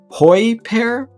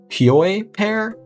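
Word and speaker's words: Hyoi Pear: and pronounce it because i've always said hoy pear but it might be a pure pair either way when you use the hye pair which is how i'm going to pronounce it hyoi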